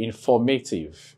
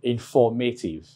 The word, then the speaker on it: informative: So you place the stress mark on F-O-R to indicate the stress. So if you're to pronounce, for instance, you say informative, informative, informative.